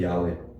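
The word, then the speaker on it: 야훼: 최근에 와서 이제 학자들 가운데이 여호와라는 이름의 정확한 발음은 야다 이렇게 여러분 많이 들어봐 죠 야외 이게 사실은 더 정확한 말음 근데 한국 교회는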